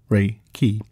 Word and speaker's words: Reiki: Reiki, pronounced Reiki, is an extremely gentle yet powerful method of healing using the, quote, laying on of hands, end quote, method.